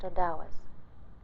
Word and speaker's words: Ottawas: Most of the tribe is made up of Ottawas, pronounced Odawas.